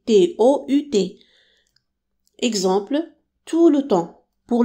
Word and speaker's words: tout: Donc ça s'écrit différemment mais se prononce de la même manière. Tout le temps et tous les jours.